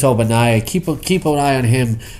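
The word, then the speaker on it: Ogbonnaya: He calls him Chris Oingo Boingo. He means Chris Obanaya. Keep an eye on him to start. Keep an eye on Cha-Cha? No, on Chris Obanaya start getting more carries there.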